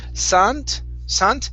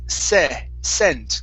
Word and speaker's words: scent: Instead of sant, it's scent. Give me a short E, scent.